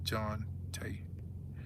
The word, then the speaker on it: Jante: Say it's pronounced John T.